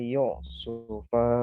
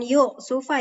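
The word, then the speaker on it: يوسف: Itu dibacanya bukan yuk sufa ya, ala yusufa. Jadi bukan yuk karena nggak ada hamzah di atasnya. Jadi langsung aja ala yusufa.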